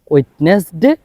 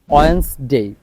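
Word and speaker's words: Wednesday: তারপর আমরা এতদিন যেটাকে বলতাম ওয়েডনেসডে, এটা হচ্ছে ভুল সাউন্ড, এটার কারেক্ট সাউন্ড হচ্ছে ওয়েডনেসডে, ওয়েডনেসডে, ওয়েডনেসডে।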